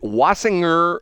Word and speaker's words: Wasinger: Is it Wasinger or wasing or with is it soft or hard G? Which which one is it? It's a hard G.